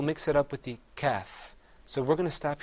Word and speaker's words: ك: كاف Another difference is that the qaf is pronounced full-mouthed. You kind of purse your lips a little bit. You say qaf. Whereas the kaf, you open your mouth up.